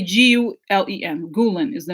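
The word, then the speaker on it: Gülen: Gulen just say G Len.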